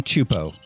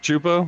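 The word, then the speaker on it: Csupo: where I got Chapo it's pronounced CL clasy chupo oh it's pronounced chupo yeah the Cs chupo that's where I got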